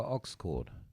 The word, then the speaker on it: aux cord: You need a longer aux cord. I'm good. For now. Turn up the phone. Aux cord rhymes with Oxford.